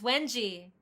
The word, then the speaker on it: Wanji: Oh, and it's now that I realize I've been pronouncing your name wrong. It's Wenji.